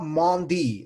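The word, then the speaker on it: Édouard Mendy: It's Edouard Mondi. Okay, pronounce the guy's name right. It's not Mendy. It's Mondi. Okay, pronounce him right.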